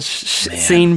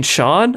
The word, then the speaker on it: Sean: Scene Bean, as I called him probably like 5 years after watching this movie. And then they were like, you mean Sean?